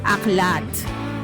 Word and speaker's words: Aklatte: Ang pronunciation ko eh Aklate so nakausap ko yung owner aklat. AKL tailitan. Ako rin talaga aklate. Wala. Ala. So aklat pala.